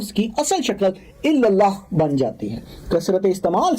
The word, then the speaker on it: اللہ: یہ الہی نام ہونٹوں سے ادا نہیں ہوتا کیونکہ اس میں کوئی نقطہ نہیں ہے. اب اللہ کا ذرا تلفظ کریں اور سمجھیں کہ آپ اسے کیسے ادا کرتے ہیں. آپ اس کے حروف کو اپنے حلق کے پچھلے حصے سے ادا کرتے ہیں بغیر ہونٹوں کو حرکت دیے.